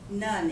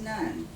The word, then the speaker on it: Nunn: we come back, Raylene, is it Noon? None. Nunn, it is pronounced Nunn.